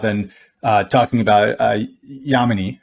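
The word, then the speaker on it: Yamini: this conversation without then uh talking about uh yamanei right and am i pronouncing her name correctly i want to make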